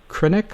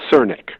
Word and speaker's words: Crnic: Neurology member of the Linda is it uh kinic I should have asked you ahead of time is am I pronouncing that right center it's cernic cernic I apologize of the